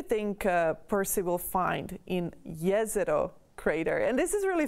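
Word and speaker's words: Jezero: crater wrongly it's actually yes it oh it comes the name comes from the name comes from a bosnian town right here in bosnia or sagovina so it's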